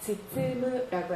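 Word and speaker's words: 包む: 딱 봤을 때 뭐라고 읽는지 아시겠어요? 자, 굉장히 많이 읽히는 동사. 즈쯔무라고 하죠.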